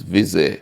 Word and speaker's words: Visé: Please pronounce it properly because I don't want to butcher the name. It's URSL Visé? It's Visé.